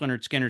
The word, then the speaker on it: Lynyrd Skynyrd: uh at their best pronounced Leonard Skinner second helping Street survivors